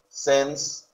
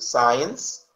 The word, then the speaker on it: since: Since I was a child. Por cierto, la pronunciación, cuidado con ese since, no van a decir science, porque science es ciencia y since es desde, ¿sí?